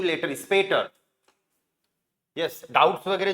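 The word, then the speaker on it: später: होगा भाई इसका स्पीटर एसपी का साउंड होता है स्प ए ए की मात्रा लग जाएगी टी का ट ई आर का अर तो ए ऑलरेडी है स्पेट यस सी यू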